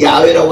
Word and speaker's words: 야훼: 그런데 그 히브리 원어상에 보면 하나님의 것을 여기서 그 영어로 굳이 이야기하자면 여호와할 때 여호와하고는 야훼라고 하는데 세 글자로 표현이 되지만 그걸 여호와라 읽을 수도 있고 야훼라고 읽을 수도 있어요.